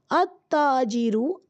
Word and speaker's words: التاجر: तो आपने यहाँ नोटिस किया होगा कि देखें अलिफ लाम में से लाम प्रोनाउंस ही नहीं हो रहा है। अत्ताजिरु, अस्सौबु डायरेक्ट सा का मखरज निकल कर आ रहा है, लाम प्रोनाउंस नहीं हो रहा है। बल्कि हम क्या कर रहे हैं, अलिफ से ता आगे शद है तो ता से मिला रहे हैं ना, अत्ताजिरु।